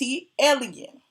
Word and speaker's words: ATLien: It's ATL, which is the airport code, and lean. Like alien, the other half of alien. So, it's AT alien.